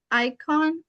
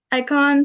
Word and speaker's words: Icahn: And you were also involved in research at, I'm probably going to pronounce this wrong, the Icahn? Yeah. No. Okay. Yeah. Icahn.